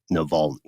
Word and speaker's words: Navalny: So just know that we're aware of it, and the correct pronunciation is indeed Navalny.